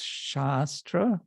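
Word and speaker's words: शास्त्र: at least one lecture there's two things there's shastra with a long a and there's shastra with a short a actually maybe this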